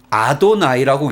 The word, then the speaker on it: 아도나이: 아도나이라는 단어도 따로 있고 뜻이 있습니다만 이 단어를 여호와라는 이 단어를 하나님의 이름에 해당되는 이 단어를 그냥 아도나이라고 읽고 넘어가요.